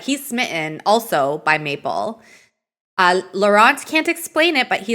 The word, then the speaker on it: Laurent: I think he pronounces it the Anglophone way. I don't think he pronounces it like a Francophone way.